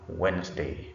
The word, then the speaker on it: Wednesday: Then we can also have other examples where letter D is silent after letter N. This is very common in this day on Wednesday.